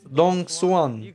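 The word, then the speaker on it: Đồng Xuân: It's called Donguan. The letter X is pronounced like an S sound.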